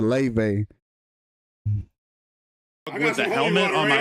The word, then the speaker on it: LaVey: Trying to say his name wrong on purpose. Anton LaVey, like, bitch, you know it's LaVey, bitch.